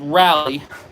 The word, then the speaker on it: Raleigh: this is a 1968 look that says raleigh but it is pronounced rally sport it's a pretty cool